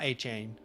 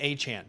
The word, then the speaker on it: Achane: Um Kyle Brandt the the day Devon Achane was drafted, he said, "It's not Achane. It's Achant." It's Achant, and then everybody says Achant now.